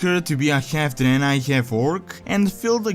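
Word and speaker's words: Draenei: two of them also their name was pronounced a bit differently in Warcraft 3 as danai as opposed to the current danai pronunciation in Warcraft 1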